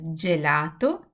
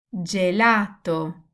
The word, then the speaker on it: gelato: And again, just like the C sound, when G is followed by E and I, it will give a soft sound like J. You know what this is gelato, Gianni, giorno, Giulia.